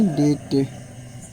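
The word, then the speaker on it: debt: और डी ई बी टी इसे क्या पढ़ेंगे डेट डी ओ यू बी टी यानी कि क्या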